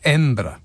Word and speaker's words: Edinburgh: Pronounced Edinburgh.